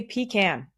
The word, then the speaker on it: pecan: by the way and yes I say pan because that's how it's pronounced and I don't think I'm alone in that I'm pretty sure pan is a southern thing but this week I'm